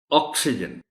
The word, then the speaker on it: oxygen: एक कि आपने जिसको मैं प्राइमरी स्ट्रेस कहता हूं वो ओ पर देना, ऑक्सीजन, और दूसरा ये जो